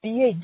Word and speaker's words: billet: I am calling about episode 628 when you had mentioned the word billet, which we tend to pronounce as billet in English. In French, it's billet.